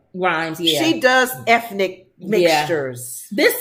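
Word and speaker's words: Rhimes: a Shonda Rhymes uh is it Rhymes right Rhymes she does ethnic mixtures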